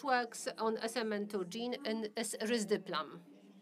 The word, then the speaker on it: risdiplam: The second approved drug, which works on SMN2 gene, is risdiplam. I have to get used to this name because in Poland it is pronounced risdiplam and not risdiplam.